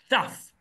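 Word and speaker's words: תו: And a Taf is a Thaf.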